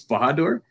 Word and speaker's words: Bahadur: don't worry about it it's a toughy um i think everyone i've ever met in my entire life besides my mom has probably pronounced it in their own unique way uh no worries it's bahadur but uh whatever way you